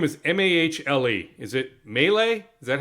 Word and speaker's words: Mahle: Mahle is the correct pronunciation.